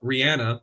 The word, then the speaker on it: Rihanna: I welcome it um and then I thought Rihanna apparently that's how you say her name correctly